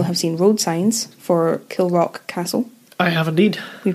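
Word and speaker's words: Kilravock: baron of kill rock now i'm going to check my pronunciation kill the rock it's a bit spicier for you i said it right oh it's all right kill rock but it's spelled k-i-l-r-a-v-o-c-k now kieran you will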